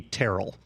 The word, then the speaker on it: Terrell: Francisco he decided that he wanted to be Terell and pronounced the first syllable of the name so for years throughout history it was always Terrell everybody was Terrell nobody